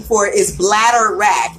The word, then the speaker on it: bladderwrack: ask you kiss you kiss removes mucus and it rhymes right but you kissed the other name for it is bladderwrack it's b BL a DV e RW r